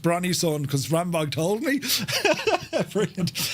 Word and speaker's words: Brønnøysund: Brønnøysund. Van Rambog, Jesus, right. I could have, if you weren't here, I would have said it's pronounced Brønnøysund because Rambog told me.